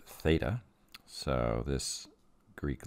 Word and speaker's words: theta: I've labeled it with a Greek letter it's pronounced theta so this Greek letter here is pronounced theta and Greek letters are often used as variables